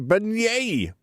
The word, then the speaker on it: beignet: okay how do I pronounce it we go pronunciation Ben I totally new just testing you we got a beignet yay a Great Depression now all we need